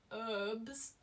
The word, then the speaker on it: herbs: find that very funny herbs like it's not a silent h oh brotis how are